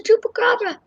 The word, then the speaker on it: chupacabra: people drive by, it'll be like, it's the chupacabra.